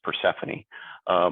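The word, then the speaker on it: Persefoni: I'm SVP with Persephone, pronounced Persephone.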